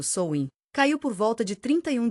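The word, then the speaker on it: Samhain: O primeiro desses festivais significativos, Samain, pronunciado Souin, caiu por volta de 31 de outubro, marcando o fim da estação da colheita e o início do inverno.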